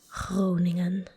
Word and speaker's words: Groningen: And I know that it's very hard to pronounce the Dutch G followed by a R directly because they both sound kind of similar. It's in the back of the throat. Groningen. It's like a, that's the R.